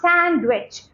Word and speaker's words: sandwich: rhino rhino rhyme rhyme D is silent in these words sandwi sand repeat after me not sandwich sandwich sandwich Wednesday Wednesday Wednesday